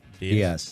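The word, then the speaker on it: Dias: Diaz. Diaz.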